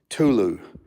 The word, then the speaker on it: Tulu: I mean I have a 7ft power strip Tulu Tulu got you boss yeah so here is